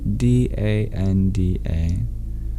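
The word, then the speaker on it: daṇḍa: Y O G A space D A N D A. But the N and D in the middle of dand are retroflex. Curl your tongue back if you want to pronounce it in Sanskrit.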